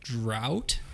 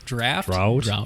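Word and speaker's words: Draught: over there I have a can of guinness drought draft draft it's spelled d drop there's nothing ght there's nothing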